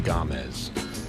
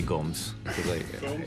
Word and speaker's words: Gomes: Well, the correct pronunciation is Gomes. This is Ben Gomez. But I say Gomes.